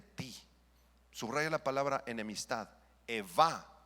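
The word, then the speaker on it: אֵיבָה: Eva, con B grande.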